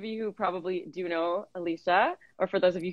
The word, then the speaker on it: Alicia: correct you earlier but actually the pronunciation of my name is alicia thank you it's um i think it's spanish alicia it could be yes